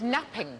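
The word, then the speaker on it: knapping: No, but you're right, it begins with a silent K. When we made early tools, what do we make them out of? Flint napping.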